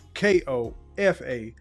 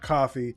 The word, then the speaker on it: Kofa: Ko, FA, not coffee, not, not Kofi, or any variation thereof. Kofa rhymes with sofa.